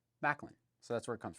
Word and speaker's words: Maklin: put together to form Macklin yeah so you get the m and the Lin Macklin so that's where it comes from so um anyway that's how you pronounce Macklin we've had a few